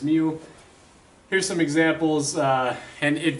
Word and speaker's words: mu: of mu so remember this mu symbol here is it's that's kind of how it's pronounced is mu here's some examples and